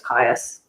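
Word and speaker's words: Kaïus: found it yeah um i'm pretty sure that that eye denotes um it's like it's its own sound syllable doesn't blend yeah um i can't remember what it's called there we go um yeah that means it's it starts a new syllable so yeah it's kaius okay yes okay otherwise it would be kai or chaos um but yeah it's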